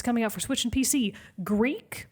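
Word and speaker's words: Greak: out for switching pc greek but it's spelled g-r-e-a-k greek memories of azure is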